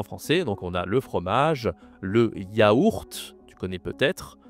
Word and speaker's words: fromage: Attention ici, la prononciation. J. D'accord? Ici, on a la consonne J. Donc le fromage. Le fromage.